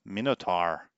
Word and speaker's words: Minotaur: so star shadow wants to know how I pronounce the word Minotaur so there we go Minotaur mine at are okay I see what you're